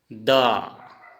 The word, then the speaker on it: দ: इसका उच्चारण हिंदी में ऐसे लिखेंगे थो। जैसे द, इसको हिंदी में हम द बोलेंगे लेकिन असमिया में दो ऐसे लिखेंगे, दो।